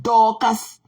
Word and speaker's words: Dorcas: C'est Dorcas. Tu mets le R là au milieu.